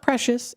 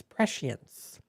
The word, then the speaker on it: prescience: It's not precious, it's prescience.